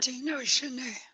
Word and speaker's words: Haudenosaunee: Am I pronouncing that? Haudenosaunee.